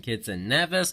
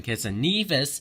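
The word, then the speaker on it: Saint Kitts and Nevis: a bunch of sources it's not party pronouncing kids and nervous versus pronouncing Kitts and Nevis and now as we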